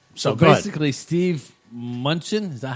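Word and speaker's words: Mnuchin: basically, Steve Munchin, is that how you say his name?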